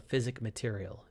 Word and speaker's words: physic material: need what's called a physic material and you might notice the distinct lack of s on the end of physic it's right here that's